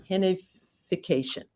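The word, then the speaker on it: gentrificación: we go to and the spanish pronunciation is genificacion so will you talk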